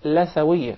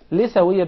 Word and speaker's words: لثوية: It is commonly mispronounced. Some people will call it Lithuania. Rather, in Arabic, it is called Lithuania because we call the gum Litha.